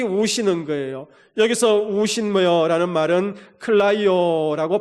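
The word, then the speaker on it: κλαίω: 여기서 우신여라는 말은 클라이오라고 발음하는데 여러분 그 주님의 울음은 내 심령 속에 누르면서 ידע며 우는 울음이 아니라 내 가슴에 있는 그 울분 그것을 다 드러내면서 통곡하는 울음이었습니다.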